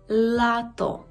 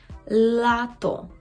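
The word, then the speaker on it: lato: Він є завжди м'який, плюс м'який в такий дуже специфічний спосіб. Ви повинні добре поставити свій язик при вимові цього звука. І кінчиком язика маємо торкнутися верхнього піднебіння. «Л». Л, л, л, л, л. Так? І, наприклад, у слові лалка, лато, лас, польська, лато, лалка, лас, польська.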